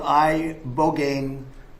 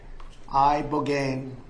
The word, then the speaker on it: ibogaine: In 2024, study from Stanford University, 30 special operation veterans with traumatic brain injuries underwent It's called ibogaine treatment. Ibogaine. Remember the name. Is that pronounced relatively properly, would you say?